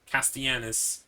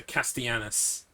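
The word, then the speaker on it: Castellanos: um myra she's also castianus it's spelt like um it's it's spanish it's spelt like that but you pronounce it with a y so castianus castianus like that um sebastian castianus um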